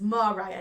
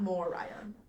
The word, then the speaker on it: Moriah: But it's spelled Moriah. Dang. Mine is spelled Mariah. And it's Moriah, not Moriah.